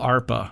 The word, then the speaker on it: ARPA: I think that ARPA's I think that may be showing up as the preferred pronunciation it's among a hashtag the too, types. so I think you're good. Yeah. Okay. It sounds a little like DARPA.